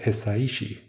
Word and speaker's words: Hisaishi: joe has his psyche however you say hisaishi you pronounce all the vowels in japanese right um we share